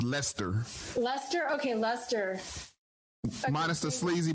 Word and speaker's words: Leicester: i think i think uh somebody says not pronounced lester lester okay lester minus the sleazy polyester suit thank